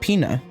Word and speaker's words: Pina: So, her name is pronounced Peina.